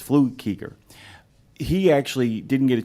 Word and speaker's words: Flukiger: his name because it's spelled Flukiger, is how it's spelled. It's Flukiger.